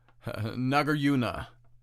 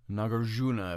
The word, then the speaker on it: Nagarjuna: meister eckert or uh nagaruna nagarjuna if you want to pronounce the j for example uh truth